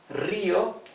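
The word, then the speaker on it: río: Rio has the rough sound because the R is at the beginning of the word.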